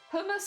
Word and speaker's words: hummus: yeah yeah yeah yeah it's both hummus and humus that's what it was Hummus humus I think I say humus mostly I go I'll